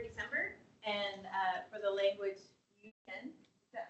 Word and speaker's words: Iu Mien: joined in November December and for the language Iu Mien is that how you pronounce yeah Iu Mien Anyway in 2022 we did our first data